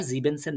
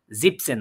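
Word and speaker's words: siebzehn: যেন সুন্দর লাগছে না তো শোনার মাধুর্যতার ক্ষেত্রে তারা আর জিবেন সেন বলে না তারা এটাকে কি বলে জিপসেন বলে জিবেন মানে কত সাত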